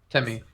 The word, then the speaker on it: Tevme: V is silent. That's Timmy. Temi.